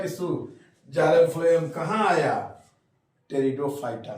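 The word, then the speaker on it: Pteridophyta: है कि bryophytes टेरिडोफाइटा टेरिडोफाइटा में हम लोग पी साइलेंट है लिखते हैं पटे रिडो पी साइलेंट है टेरिडोफाइटा पहला ये प्लांट है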